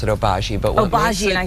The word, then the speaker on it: Obagi: true um what makes the and they actually pronounce it oaji but what I say what makes it different